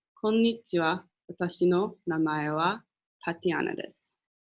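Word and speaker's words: こんにちは: of day right now it's afternoon you'd say konichiwa so I'm gonna announce it again just so you guys can hear it konichiwa and that is again how to say hi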